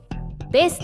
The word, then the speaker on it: ベース: Trong bối cảnh âm nhạc Nhật Bản, chúng tôi có hai cách phát âm khác nhau cho từ tiếng Anh "bass" - "besu" và "basu". Chúng tôi gọi nhạc cụ họ guitar là "besu", trong khi các nhạc cụ tần số thấp khác được gọi là "basu", như trong "bass drum" hoặc "bass vocal".